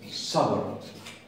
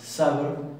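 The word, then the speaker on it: صبر: No es lo mismo decir sabr que decir sabr. Ellos inflan un poco más los cachetes y se pronuncia un sonido un poco más grave. Es básicamente una S más dura y más enfática.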